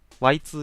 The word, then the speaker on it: YIIK: Y2K って読むね。